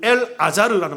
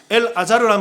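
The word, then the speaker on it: אלעזר: 히브리어 발음으로 얘기하면 이건 엘 아자르라는 말이에요. 엘 아자르라는 말이 히브리어인데 신약의 언어인 헬라어로 말하면 나자로스, 나자로라고 얘기한다고요.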